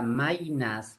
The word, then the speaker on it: Maynas: Lo que pasa es que cuando la Y está al final de la sílaba suena como I. Por eso hay diptongo en la palabra ley y en la palabra Maynas, que es la provincia de Maynas.